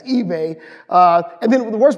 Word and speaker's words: eBay: say your name Stephen eBay Stephen E I always want to say because it's and I want to say so bad it's eBay uh and then the